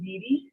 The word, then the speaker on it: Bede: Bede?